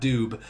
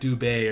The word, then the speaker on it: Dubé: Dylan Dube, or Dubé, however you want to pronounce that guy's name. Apparently, it's not Dube. It's like Dubé or something weird.